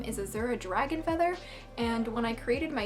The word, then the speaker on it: Faether: then dragon DRA gon and then feather is pronounced feather but spelled FA ETA G R and when